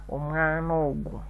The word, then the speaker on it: omwana ogu: So we delete a and we put an apostrophe, then ogu. So we find we are pronouncing it as omwana ogu.